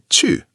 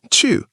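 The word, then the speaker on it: 去: Chu means to go. It's a fourth tone, so it drops sharply. Chu, like a karate chop.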